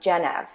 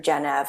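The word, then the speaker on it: Gennev: So that's when I found um Genev which is spelled G as in girl, E is in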